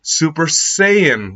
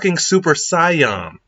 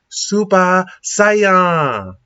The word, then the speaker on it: Super Saiyan: tell you guys something you guys all say super saiyan wrong it's super syion fight me about it it's super saion with